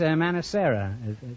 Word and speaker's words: Manicera: Manicera. Yes. That's an odd name. Is that the correct pronunciation? Yes, it is.